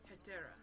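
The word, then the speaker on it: Hetairai: Etera, that's how you say it.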